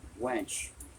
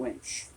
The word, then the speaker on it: winch: i want to apologize i keep using the word wench but i have trouble pronouncing the winch so through the video i will be using that word and that's a mistake on my part but it's very hard for me to say the word winch so often you'll